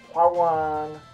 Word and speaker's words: Hwoarang: Dude, for the last time, it's pronounced Hwoarang, not Hwoarang, Hwoarang, Hwoarang, Hwoarang.